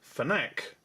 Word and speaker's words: FNAC: there, FNAC from France, which I believe is pronounced FNAC, but they are very good.